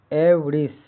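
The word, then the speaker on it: avarice: आई के बाद किसी व्यंजन से ई जुड़ने के बावजूद आई का उच्चारण इ या ई होता है। जैसे ए वी ए आर आई सी ई एवरिश हिंदी अर्थ लोभ लालच धन लोपत।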